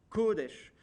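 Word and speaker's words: קֹדֶשׁ: ce mot de vocabulaire que l'accent est sûre la première syllabe et non pas sur la deuxième kodesh pourquoi parce qu'en fait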